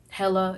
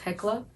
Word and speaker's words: Hekla: But for me, we were looking more for like tranquility, so Hella, and actually it's pronounced Hekla.